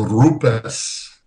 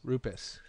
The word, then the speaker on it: Rupes: the information about our company and the correct pronunciation of the name is actually a rupess so the you need to rule the are